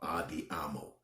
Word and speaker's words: Andiamo: It's called Andiamo.